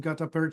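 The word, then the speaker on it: gutta-percha: was done root canal with gap Pera or is that pronounced that way yes and the other one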